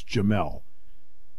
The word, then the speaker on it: Jamel: Jamel Lyons, and that is how you pronounce his name. It's Jamel. Why do I know?